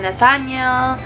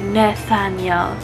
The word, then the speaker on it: Nethanial: name is is Nathaniel so maraming nagkakamali ng pagpronounce ng last name ko May nagsasabi na Nathaniel Nathaniel blah blah blah ang pagpronounce po nito ay Nathaniel Okay I'm 21 years